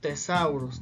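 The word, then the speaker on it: thesaurus: significa hermosa muy limpio la siguiente regla de referente a las letras ch a esta combinación simplemente pues borramos la h y se va a pronunciar solamente la t así como la palabra tesoro que es de sauros la vamos a pronunciar como tesauros tal cual la letra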